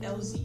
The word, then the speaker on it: Elzee: And I'm like, it's just letter L and that's it. Elzee.